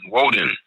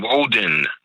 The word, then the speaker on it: Woden: Wednesday represents Woden's day from Germany, Woden, W-O-D-I-N, Woden. Woden is identified with Odin, O-D-I-N.